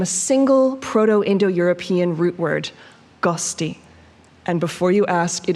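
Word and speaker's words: ghosti: guest originate from a single proto-indo-european root word gusti and before you ask it is spelled g-h-o-s-t-i it roughly translates to someone with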